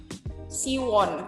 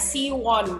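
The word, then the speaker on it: 시원: Jadi Siwon ini Siwon. Kita kalau manggil dia namanya Siwon gitu kan ya. Padahal cara membacanya adalah Siwon. Siwon, bukan Siwon, tapi Siwon. Won, N-nya harus digigit.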